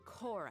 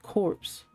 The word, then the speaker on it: Corps: You know what kind of punishment you'll face once we report you to the Corps, I assume. I've always pronounced it corpse. Like the Attack on Titan corpse.